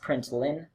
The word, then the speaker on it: println: dot out dot println note that L is an L and it's pronounced print line' print ell I and